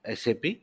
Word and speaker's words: SAP: some of you doesn't know anything about what sap yeah so everything is there here you not